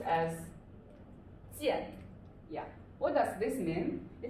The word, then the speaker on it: 见: So this is pronounced as 剑.